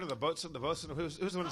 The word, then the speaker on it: boatswain: Like boatswain is bosun.